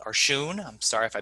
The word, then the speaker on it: Schoon: Soon or Shun. I'm sorry if I mispronounced your name. Eugene Shun. Thank you. My name is Eugene Schoon.